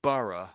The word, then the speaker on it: borough: So burough I'm saying should be spelled something like this.